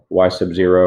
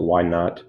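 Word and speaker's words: y₀: So remember, it's important to realize that y sub 0, or you can pronounce it y naught, is that's our starting value.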